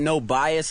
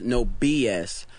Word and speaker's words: NobyuS: get that a lot we get no bias a lot because uh because it's n-o-b-y and a lot of people because bye but it's phonetically it's no BS and it comes from